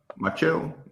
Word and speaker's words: Machado: Machado, and I'm fucking Spanish.